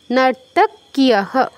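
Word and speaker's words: নর্তক্যঃ: কহ নয়, কিয়হ, ক যুগ ইয়ফলা কিয়হ, নর্তক্যহ।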